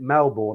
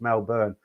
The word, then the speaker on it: Melbourne: um meloburn i've always i've been pronouncing it melbourne i don't know why melbourne and somebody said it's mel burn uh so i reviewed